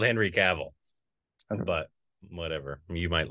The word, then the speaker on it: Cavill: Cavill. Cavill is how he pronounces it. Does he? Like, I'm pretty sure yes. It's Cavill. No, he I'm does. Pretty sure it's Cavill. Yeah.